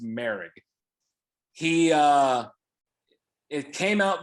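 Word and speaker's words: Moehrig: right yeah it's spelled morig m-o-e-h-r-i-g but it's pronounced mary he uh it came out this week that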